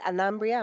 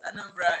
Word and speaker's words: Anambra: Is it Anambria? Am I saying it correctly? Yes, Anambra.